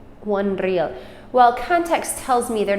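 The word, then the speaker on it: រៀល: and it's pronounced re real your accent is on the first syllable real real all right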